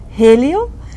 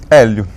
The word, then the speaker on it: Hélio: who are you me I am Elio that's how you pronounce my name in English Elio in Portuguese yeah but people call me Helo Helio I was born